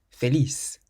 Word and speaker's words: feliz: The first word means happy, and it ends in a Z, so we stress the last syllable. Feliz. Feliz. So it's not feliz, but feliz.